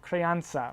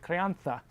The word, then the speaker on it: crianza: The next category, classification in terms of age, is called crianza, or if you're Spanish, you pronounce it crianza.